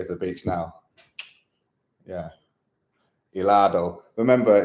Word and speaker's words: helado: Helado. Remember, in Spanish, when you see a H, it's never pronounced a H.